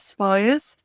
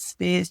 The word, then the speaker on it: Spiers: So, I'm Spires. I noticed he said Spears, Jimmy.